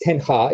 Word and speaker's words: Ten Hag: When the current coach Eric Ten Hag came in, by the way, it's pronounced Ten Hag. It was Ten Hag Dutch.